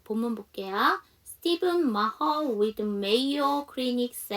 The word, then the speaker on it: Stephen: 자, Stephen. 자, 이거 전에도 한번 질문 나왔던 건데 이거는 스테펀 이렇게 읽어주시면 안 되고요. 스티븐이라고 읽어주셔야 됩니다.